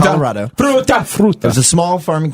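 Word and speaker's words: Fruita: I think I'm pronouncing that right. It's the word fruit with an a on the end. Fa Fruta. Fruta, Colorado. Fruta.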